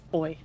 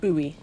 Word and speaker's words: buoy: you know, I grew up in an area where it's pronounced boy and um deeply confused me when I moved up to Queensland and somebody said buoy.